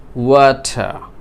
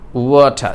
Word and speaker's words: water: মানে শেষের যে র সাউন্ডটি আমরাকে সাইলেন্ট করে দিলাম তাই না?